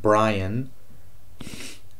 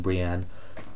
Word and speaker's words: Brienne: And if it was a choice between Daenerys, Tyrion, and Brian, yes, I know I'm saying it wrong. Yeah, so I'd rather these two than Brienne.